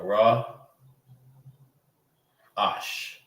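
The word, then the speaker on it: ראש: Head is raash. That's the raw. All right. When you when we're learning um the Hebrew letters and the meaning of them, that's raw. All right. This right here, that letter is ra that's head. That means head. Raash. All right. And I'm only going to write it in the ancient. So yeah, raw ash.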